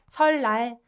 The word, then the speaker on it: 설날: Rather than saying 을느, it's way easier to pronounce double 르. So that's why it's replaced to 리을. 니은 is replaced to 르 to make it more comfortable to pronounce.